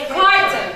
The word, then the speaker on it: carton: Noun or a verb? Not cartoon. I'm not talking about the cartoon. Noun. Okay, how many syllables? 2. What am I going to stress? Carton. First.